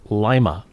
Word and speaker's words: Lima: corner of this street, spelled Lima, which is Lima, which is the name of a city in Peru. Mm-hmm. But boy, don't call it Lima or the cops will arrest you because you are a stranger in town. It's supposed to be pronounced Lima.